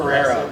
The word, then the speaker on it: Ferrero: And my name is Sal Montagudu, and how do you pronounce it? Ferrero. Ferrero, okay, Italian, right? Right, very Italian.